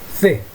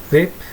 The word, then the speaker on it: the: A pronúncia dela não é T, não, tá certo? É the. Tá bom? É mais ou menos como se você colocasse a língua entre os dentes e pronunciasse.